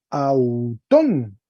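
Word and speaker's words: αὐτόν: Autón, espíritu suave sobre el espíritu y acento agudo en la O, entonces dice, eblepon, autón, ¿no?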